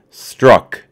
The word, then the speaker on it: Strzok: record straight on that struck is the correct pronunciation and I've been saying